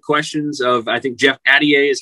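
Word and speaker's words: Altier: You asked some good questions of, I think, Jeff Addier is how you say his name, the Stetson athletic director, who was the chair of the tournament committee.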